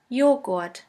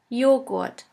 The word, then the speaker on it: Joghurt: The letter J is pronounced like the Y in the word yogurt. The German translation for yogurt is Joghurt. Joghurt.